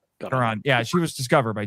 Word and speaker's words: Caron: And it does have a Gene Kelly connection because Miss Caron, is that how you say it? Caron.